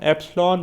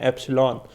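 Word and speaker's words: epsilon: तो आप E1 की वैल्यू नोट कर लें 0.8 वोल्ट, बल्कि इसको हम एप्सिलॉन 1 कहेंगे, E1 नहीं, ठीक है। करेक्ट इसकी प्रोनाउंसिएशन है एप्सिलॉन, एप्सिलॉन 1 0.8 वोल्ट।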